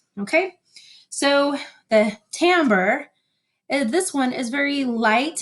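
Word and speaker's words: timbre: Okay, tambber is spelled t i m e b r e. Tambber. Even though it looks like timber, we say tambber because it's an Italian word, not an English word.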